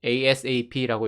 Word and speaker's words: ASAP: ASAP이라고 읽기도 하고 ASAP라고 읽기도 합니다.